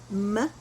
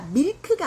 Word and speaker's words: milk: 그 다음에 이제 우유가 어디 있어요 할 때 발음 신경 써서 milk 해서 milk. 우유가 밀크가 아니라 milk 이렇게.